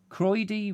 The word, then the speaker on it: Croyde: Croyde rhymes with hemorrhoid, says Ben Reeve.